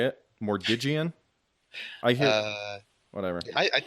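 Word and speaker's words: Mordiggian: I know used to tell me what it was, how to say it, but I would say Migian. Just use both G sounds because there's two G's.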